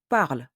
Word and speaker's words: parlent: I will say ils parlent. I won't say ils parlent. I will say ils parlent. Parle is written ENT at the end, but I say parle, not parlons.